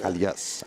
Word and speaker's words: Calas: of our sponsors is Calas kalas it's like K but Calas so it's they're a